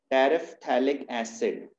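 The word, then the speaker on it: terephthalic acid: और अगर ये पैरा पोजीशन पर लगे रहें 2 COH ग्रुप्स तो इस कंपाउंड को बोलते हैं टेरेफ्थैलिक एसिड। P यहां पर साइलेंट है, टेरेफ्थैलिक एसिड।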